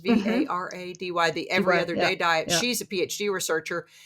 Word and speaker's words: Varady: And Dr. Kristen Verity, is that how that's pronounced? Varady, the Every Other Day Diet.